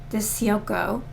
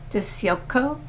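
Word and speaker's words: DiCicco: She married a guy named Pat Dio. I guess that's how you pronounce it. D I C I C O. Dio.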